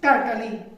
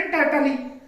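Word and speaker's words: turtle: अगर हम इसको अपने देसी हिसाब से पढ़े या जो हम प्रोनाउंसिएशन में गड़बड़ करते हैं तो उसमें क्या पढ़ेंगे, TUR टर, TLE टली, टर्टली, ऐसा पढ़ेंगे ना टर्टली, लेकिन टर्टली नहीं है, ये क्या है, टर्टल, टर्टल।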